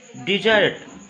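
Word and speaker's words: desert: डिजर्ट, डिजर्ट, डिजर्ट मतलब खाना खाने के बाद जब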